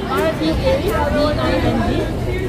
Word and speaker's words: Reading: R-E-A-D-I-N-G. It's spelled like reading, but it's pronounced Okay. So it's Reading terminal.